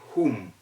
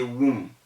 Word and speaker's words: whom: say who for w-h-o and then you say whom you can't say womb whom are you giving